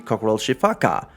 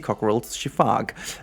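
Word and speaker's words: Coquerel's sifaka: video it was the cockal shiaka but it's not true I just did even more research you don't pronounce the a at the end I did actually watch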